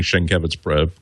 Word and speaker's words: Sienkiewicz: You're proving your geek credibility by even pronouncing Sienkiewicz correctly.